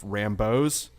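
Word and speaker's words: Rambeau: They cut out some Star Force scenes, and also another gripe was not enough Rambos.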